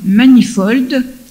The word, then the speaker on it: Manifold: Et il faut lire aussi un livre de Deirdre Manifold. Deirdre, ça s'écrit D-E-I-R-D-R-E, Manifold, M-A-N-I-F-O-L-D, qui s'appelle « Le nouvel ordre du monde ».